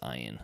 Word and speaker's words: Ian: It's spelled Ian, but it's pronounced Ian.